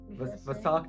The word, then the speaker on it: Vesak: It's Vesak day.